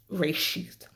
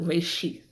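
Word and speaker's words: ראשית: In the original Hebrew, the word is pronounced reshith. Okay? Now I have a plate in, so I know that's gonna, make my pronunciation a little bit funky, but reshith.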